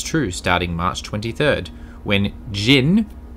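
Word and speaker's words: Djinn: Find out if it's true starting March 23rd, when Jin, even though it's spelt with a D, I believe it's pronounced Jin, take over the neighborhood.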